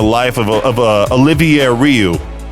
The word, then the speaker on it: Olivier: I thought it was Oliver Rioux, but no, there's an extra I in there. Olivier Rioux.